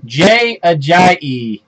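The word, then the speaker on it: Ajayi: Miami with him and he said his official name to say his name is j a j it's got the extra syllable at the end numbered 85 of 99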